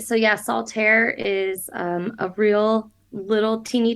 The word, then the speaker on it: Saltaire: uh by the way the book is called Saltair am I pronouncing that right yes you are okay so soltair and I looked it up because I wanted